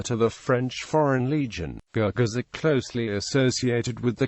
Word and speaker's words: Gurkhas: The Gurkhas, pronounced and correctly spelled as Gorkhas.